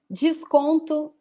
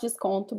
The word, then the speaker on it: desconto: Desconto, it's not desconto because the first O, is nasal, and the last one is actually pronounced like U. Desconto.